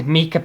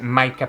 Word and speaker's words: mica: and before anyone says anything I know I pronounce mica wrong! But I think *meeka* powder sounds better.... in your mouth. I'm pretty sure you're supposed to pronounce it mica powder but that just sounds boring to me!